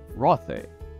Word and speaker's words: Rothé: gone away or not, you pronounce it as if it were French, as if the accent was there. Rothé.